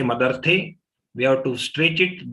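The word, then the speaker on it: मदर्थे: And when we say Madarthe, we have to stretch it, then the next agat of ta will come.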